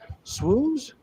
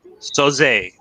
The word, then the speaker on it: Soze: Swoos? Soze. Soze, like Kaiser Soze.